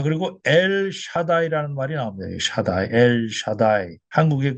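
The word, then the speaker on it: שַׁדַּי: 그 뭐 거꾸로 한 거 같은 이런 표시가 이게 샤 바음이 납니다. 이게 샤. 그리고 여기에 이게 짝대기 하나 있는게 아 발음이 나는 거야. 이게 해서 샤 이렇게 기억 이렇게 돼 있는 건 요거 다 발음이 나는 거야. 다 여기 짝대기 하나니까 아 바람이 나니까 다 샤다 이게 이거는이 바음이고 샤다이 이렇게 되는 거야.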